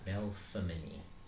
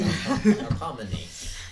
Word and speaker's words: Melpomene: Like I feel there's like an F, even though there's no F in it. There's like an F sound. Whoa, Tiff Crab. Melpomene. No. Spell it. Melpomene. Melpomene. Yeah. No F at all.